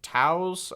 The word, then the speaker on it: Toews: It's by Miriam Toews. It's spelled Toews.